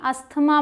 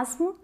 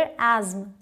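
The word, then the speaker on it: asthma: बीमारी का नाम है जिसे आप सभी अस्थमा बोलते हैं, लेकिन इसकी प्रोनाउंसिएशन बिल्कुल अलग है। या तो इसे बोलते हैं एस्म या फिर एज्म, एस्म या एज्म। अमेरिकन इंग्लिश एस्म और ब्रिटिश एज्म।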